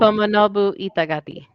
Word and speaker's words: Tomonobu Itagaki: Y'all try to pronounce it. Tonobu. Tomonobu Itagaki.